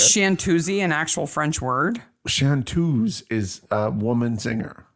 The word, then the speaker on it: chanteuse: Chanteuse is a woman singer. Well, but it has an E on the end, so he says Chantuzy.